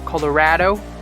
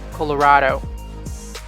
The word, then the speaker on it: Colorado: it's arkansas colorado colorado it's not colorado it's colorado this one very tricky you